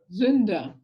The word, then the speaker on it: Sünder: É um S, depois um U com trema. Sunder. Sünder.